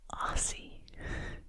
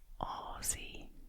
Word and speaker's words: Aussie: I know I've heard, especially Americans say Aussie, but it's Aussie, Aussie, Aussie, Aussie, Aussie, Aussie, Aussie, Aussie, Aussie, Aussie, Aussie, Aussie, and that's what I am.